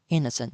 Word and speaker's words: innocent: Academic costume ဆိုပြီးတော့သုံးပါတယ်။နောက်ထပ်တစ်လုံးကတော့အယ်လူအများတော်တော်များများအခုခေတ်တော်တော်များများနဲ့ရင်းနှီး နောက်ထပ်တစ်လုံးကတော့အယ်လူအများတော်တော်များများအခုခေတ်တော်တော်များများနဲ့ရင်းနှီးနေတဲ့ဆိုတဲ့စကားလုံးမြင်ဖြစ်ပါတယ်သူ့အဓိပ္ပာယ်ကတော့အပြစ်ကင်းတဲ့လူအယ်ဒါမှမဟုတ်အဲ့လိုမျိုးဘာမှမသိတဲ့နားမလည်တဲ့သူခေါ်တာဖြစ်ပါတယ်ဒါပေမဲ့သူ့ကို noent ဆိုပြီးတော့နိုးမှာ stress မရှိပါဘူးသူ့အသံက innocent ဖြစ်ပါတယ် innocent အာပထမဦးဆုံးစစ်လည်ပေါ်မှာ stress ရှိပါတယ် innocent မဟုတ်ပါဘူးနော် innocent